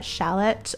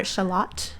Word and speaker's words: shallot: chopped some garlic and a shallot or shalot as they say in the UK that was a pronunciation variation that I didn't know until uh really like living with a a a a born and bred British person so anyway um